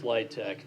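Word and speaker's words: LIHTC: communities thank you the low-income housing tax credit pronounced litech is the primary means of developing in affordable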